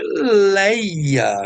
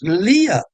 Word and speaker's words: Lia: A pronúncia é Leia, né? A pronúncia nossa em português é Leia. Mas se alguém diz lia, não está errado por uma questão da